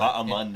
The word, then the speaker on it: Bahamondes: The H is silent. Bahamondes.